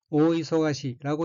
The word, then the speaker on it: 大忙し: 초록색 줄침 부분을 보면 첫째 줄 오른쪽에 엉키는 한자가 한국어로 큰 대자와 바쁠 망자가 들어있고 일본어로는 오이소가시라고 읽으며 오이소가시는 명사 또는 형용동사로서 매우 바쁜 것, 눈코뜰 사이 없이 바쁜 것, 또 그 모양을 뜻합니다.